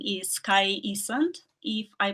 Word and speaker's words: Kai Isand: So we have our next speaker from Estonia, and her name is Kai Isand, if I pronounce it well.